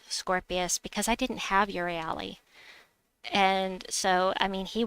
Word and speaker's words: Euryale: Supernova says, I remind myself how to pronounce her name by saying up your alley. I don't know if it's pronounced Euryale.